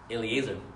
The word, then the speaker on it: Eliezer: man servant of Abraham you said it right Eliezer you don't say Eliezer a liaison now what